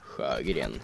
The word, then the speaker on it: Sjögren: There's also the M1917 Enfield and the Sjögren, or Sjögren as you're supposed to pronounce it.